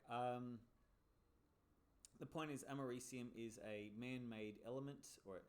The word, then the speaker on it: americium: i like to say americanium knowing that it's not pronounced that way it's actually pronounced americium americium is uh what